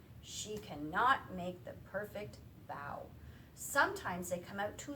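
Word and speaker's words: bao: the word, and it's bow, not like bow. It's spelled the same way, but we pronounce it bow, like a dog, bow.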